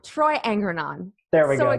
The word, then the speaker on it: Angrignon: It's Angrignon. Angrignon. Troy Angrignon. There we go. The second G is silent.